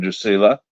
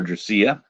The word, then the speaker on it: Drusilla: by the name of Drusilla or dracia depends upon how you want to pronounce her name and he knew the